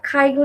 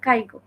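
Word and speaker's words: 介護: Student ভিসাতে আসছে, Japanese পারে, বোঝে, কিন্তু accent অনেকে আছে খাইগো নিয়ে কথা বলে, অথচ খাইগোটাই ঠিকমতো উচ্চারণ করতে পারে না। বলে কাইগো, কাইগো, কাইগো ভিসাতে যারা আসে।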